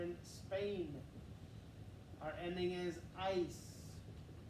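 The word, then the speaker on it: áis: Our ending is ice. It's one of those diphthongs, two vowels in a row. Ice. Ice. Pronounce it like the word ICE in English.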